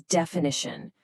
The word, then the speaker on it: definition: First up is definition, which is an exact statement of what a word or phrase means. Notice the phonetic stress is on the third syllable. Def-i-ni-tion.